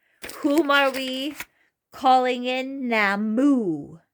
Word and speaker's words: Nammu: Nammu. Nammu.